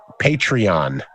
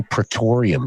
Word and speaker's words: Patreon: site right now it's i always pronounce it wrong patreon i want to say praetorium for some reason because you're weird yeah i know but patreon it's only eight bucks okay everybody